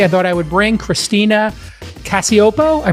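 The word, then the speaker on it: Christina Cacioppo: Hey, everybody, I thought I would bring Christina Casiopo. I pronounced it correct, I'm hoping, Christina?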